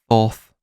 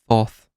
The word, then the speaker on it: Thoth: W is in the phonetic is typically pronounced in Kemetic as a U sound. Thus, tut or twat, right? Thoth, as we would call it in the anglicised version of it.